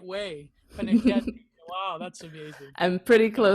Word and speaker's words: Pennacchietti: Pennacchietti.